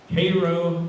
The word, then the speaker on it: Cairo: is spelled just like chiro but they don't pronounce it that way cairo illinois where it joins the mississippi so this